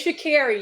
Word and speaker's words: Sha'Carri: It's just spelled with the C, but it sounds like a K.